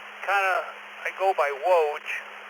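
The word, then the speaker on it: Woj: Kind of I go by Woge W OJ. kind of like that guy on Barney Miller.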